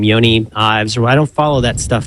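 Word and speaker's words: Jony: Where I can say, is that his name, Yoni? Johnny? I think Johnny. he pronounces it Johnny. I thought. Oh, you say Johnny? Does he say Yoni? I don't know. Andy, what do you say? I think it's Johnny.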